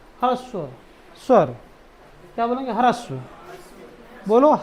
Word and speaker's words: ह्रस्व: ह्रस्व नहीं ह्रस्व। देखो ह में र लगा है। तो ह्रस्व हर बोलेंगे।